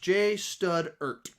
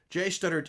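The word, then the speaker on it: J Studert: i would want my name is pronounced j stud ert j studdard is a common mistake people make uh jay stud okay zachary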